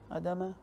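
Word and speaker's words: אדמה: praise fruit from ground adama okay it is important to make sure to pronounce this syllable and not to omit it carelessly you know what some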